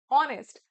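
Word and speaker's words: honest: रहा है, लेकिन इसका प्रोनाउंसिएशन है ऑनेस्ट। आ का प्रोनाउंसिएशन एन ऑनेस्ट मैन सही है, अ ऑनेस्ट गलत है।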